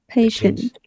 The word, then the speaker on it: patient: patient. Kiên nhẫn hả? Pay mà làm sao có pay, pain đâu ra? Patient. Patient. Đấy, chuẩn hóa lại phát âm.